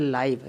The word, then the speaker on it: live: ओहो, यहाँ पर लिव नहीं बोलेंगे इसे, ध्यान से देखिएगा, ये बड़ा